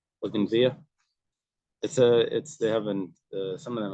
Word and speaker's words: bougainvillea: You don't pronounce the L at the end. Bougainvillea.